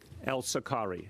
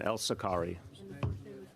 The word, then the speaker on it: Elsokary: El Sakari is the pronunciation. El Sakari. Yeah, I'm going to say. It's even though you say it like an E. El Sakari.